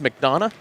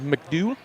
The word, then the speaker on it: McDonough: at and he misspelled he mispronounced McDonough as mcdew and he took his